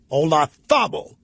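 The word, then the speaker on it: Olazábal: Ola Dabo the Z in Spanish is a Ola Szabo when I first heard that on a golf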